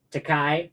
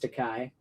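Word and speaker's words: Takei: Teai. Okay, it's pronounced Teai.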